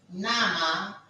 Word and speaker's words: Name: In German, we write the spelling N-A-M-E, but we pronounce it as N-A. We pronounce it as Nama.